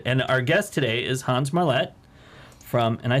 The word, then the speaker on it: Hans Marlette: little bit weird and our guest today is Hans Marlette from and I said that right you did